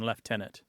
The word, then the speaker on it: lieutenant: for this particular word the more traditional British pronunciation left tenant yes uh my unit